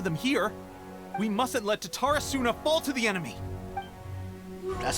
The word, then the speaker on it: Tatarasuna: We mustn't let Tatarasuna fall to the enemy. That's how you pronounce it, Tatarasuna.